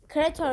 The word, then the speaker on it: creator: Creatör creatör işte onu doğru okumuş. Creatör. Creator diye yazılıyor. Amanator diye yazılıyor. Creatör diye okunuyor.